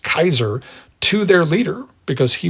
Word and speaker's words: Caesar: the Latin word ceser properly pronounced Kaiser to their leader because